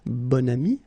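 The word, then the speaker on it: bon ami: this adjective okay and then you pronounce it bonami when you make this link second example bam so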